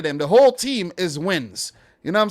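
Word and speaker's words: Nguyen: seven eight of them the whole team is wins you know what i'm saying but they haven't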